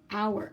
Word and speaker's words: hour: miles miles per per hour and remember if we cover that h-hour don't save our power silent H hey Woodcock can't fly